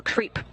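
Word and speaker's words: KREEP: a weird component that we call creep and it's spelled k r e e p and Central potassium Rare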